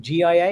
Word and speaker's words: GIA: pronounce the artist name, GIA. Is it Gia? Gia, yeah, Gia.